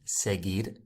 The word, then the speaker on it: seguir: But the reason why there is a U after the G, it's not pronounced. And the reason is it's to make the G G sound, a hard sound, seguir.